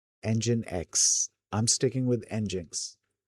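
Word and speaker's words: nginx: or uh or Ninx engine X. I'm sticking with Ninx. It's uh it's the first pronunciation that I'd come up with for this uh thing until I found out that it's called engine X and then I was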